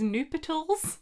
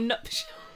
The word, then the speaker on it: nuptials: I actually also, until this year, thought it was nuptials and not nuptials.